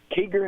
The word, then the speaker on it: Kiger: Kiger, is that how you pronounce it?